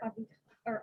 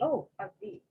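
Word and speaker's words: אביו: It's actually Aviv. Aviv. Yeah, and the vav is going to be pronounced like a va here, Aviv, instead of like a Maybe that's what they think is unusual.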